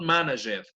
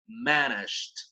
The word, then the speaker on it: managed: Remember the pronunciation, right? Not managed, managed. Not just for these, but for almost every verb that ends in ed, right? Almost every regular verb in the past, the D sounds like that, okay?